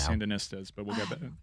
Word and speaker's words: Sandinistas: are focused on this believe it it's pronounced the sandinistas it's called vittle the